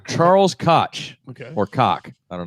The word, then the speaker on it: Koch: It's pronounced Koch.